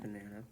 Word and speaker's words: banana: Banana. It's a banana. That word has 3 syllables, right? So we have banana. But only one is stressed, and the other 2 are unstressed and have a schwa sound.